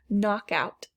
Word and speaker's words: knockout: silent k door knob knockout knock out so again a compound word i don't hear the k we'll put it here